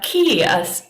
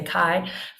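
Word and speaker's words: chi: and then he's got a key or we sometimes say Kai for the CH Iota Lambda Lambda I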